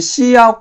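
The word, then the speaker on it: cout: 함수가 끝나는 거죠 그리고이 C 아웃 같은 경우에서는 우리가 여기 이제 터미널이라고 하죠 터미널 터미널에서 글자가 찍히도록 해 주는 명령 중에 하나예요 얘는 이제 소리내 발음하면 C 아웃 이거를 이제 C 아웃으로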